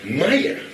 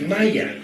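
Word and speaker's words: مية: In Egypt, one of the key words for water is Maya. It is not pronounced the same way in any other Arabic country.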